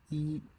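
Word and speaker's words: 一: Pronounced E.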